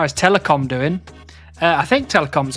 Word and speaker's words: telecom: to telecom and just for confirmation that is t e l e c o m telecom and that's how you pronounce his name correctly.